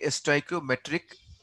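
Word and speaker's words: stoichiometric: तो ये चैप्टर है चैप्टर का नाम है STOICIOMETRY और वी कैन से STOICIOMETRIC ऐसे कहते हैं ठीक तो ये इसका प्रोनाउंसिएशन है सो दिस इज नॉन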